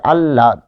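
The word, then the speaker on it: আহ্লাদ: আর যদি শেষে থাকে তাহলে আল্লাদ তাই না আল আল্লাহ আল্লাদ এটির উচ্চারণ হবে যে ল ল এর সাথে আবার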